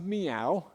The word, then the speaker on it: Miao: These These are It's pronounced Miao, just like a cat says, m i a o.